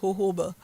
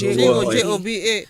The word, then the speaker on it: jojoba: But, it's pronounced jojoba. Oh, I thought it was jojoba.